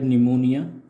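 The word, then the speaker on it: pneumonia: सी हैड निमोनिया, निमोनिया बोला जाता है इसको, निमोनिया प्रोनाउंसिएशन है इसकी.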